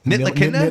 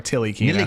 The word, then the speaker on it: Ntilikina: I think it's Ntilikina? Ntilikina or Tilikina. Ntilikina. One of those two. So the Not Knicks- sure if the N is silent. The Knicks taking a French guy.